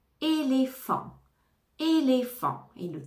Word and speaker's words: éléphant: éléphant éléphant F et le pH va se prononcer comme un f éléphant éléphant et le t final ne se prononce pas éléphant éléphant énergie énergie énergie